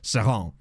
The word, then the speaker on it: Seraing: I looked it up, the only pronunciation that I could find in, like, Walloon, like French Belgian, was Seraing. Because all the other ones are all Dutch pronunciations, which obviously they're not a Dutch team, so...